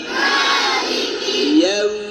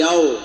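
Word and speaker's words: يوم: মালিকি ইয়াউ ইয়াউ নাকি ইয়াও, ইয়াও না ইয়াউ ইয়াউ। একদম ঠোঁটে আওয়াজটা ঠোঁটে নিয়ে আসেন, ইয়াউ।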